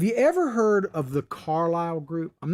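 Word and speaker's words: Carlyle: of time have you ever heard of the carlisle group i'm not going to get too deep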